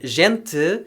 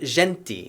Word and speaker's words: gente: that european portuguese did which shifted to the uh sound leading to a pronunciation of a word like gente instead of genti and european portuguese took